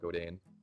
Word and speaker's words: Godin: endorse is it a Canadian guitar company called go Dane a lot of people it's spelled gio di n you like goat in